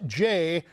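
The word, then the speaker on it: Jeh: And you mentioned in that cavalcade of less than heroic and exemplary characters, Jay rhymes with meh, Johnson, over the Department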